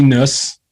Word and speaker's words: Nuss: So it's Nuss, right? Like bus, but with an N. Yeah. So Nuss, Nuss.